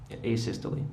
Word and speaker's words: asystole: Asystole, I think it's called. Am I pronouncing that right, by the way? Asystole, yeah. Yes. Would you spell that for ladies and gentlemen of the jury?